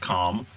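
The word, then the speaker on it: Qom: I see that they got Coom, which, yes, I'm going to call it Coom. I don't care if it's pronounced Calm.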